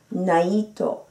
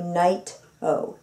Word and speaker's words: Naito: Well, it's pronounced Naito, which is the Japanese pronunciation, but just to make it a little bit easier for you folks, it's like night with an O at the end.